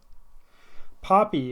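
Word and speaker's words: Poppie: Poppy is spelled P-O-P-P-I-E. Sounds like the flower.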